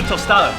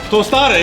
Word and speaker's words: tostada: you put the ceviche on pretty much a toada tostada exactly what it is all right while you